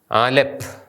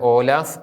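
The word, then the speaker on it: ܐܠܦ: അതുപോലെതന്നെ എസ്ട്രങ്കേലയിൽ നിന്നും വ്യത്യാസമുണ്ട് ആദ്യത്തെ അക്ഷരം ആലപ്പ് വെസ്റ്റ് സിറിയക്കിൽ ഇത് ഓലാഫ് എന്നായിരുന്നെങ്കിൽ ഈസ്റ്റിൽ ഇത് ആലപ്പ് എന്നാണ് ഇത് എഴുതുന്ന രീതി ശ്രദ്ധിക്കുക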